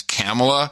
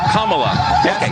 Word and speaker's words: Kamala: have mispronounced Kamala as camela Kamala the Ugandan Head Hunter brought here by the wizard what makes Camila Harris africanamerican nothing at all her name is pronounced comma like the punctuation mark look commala so what that's how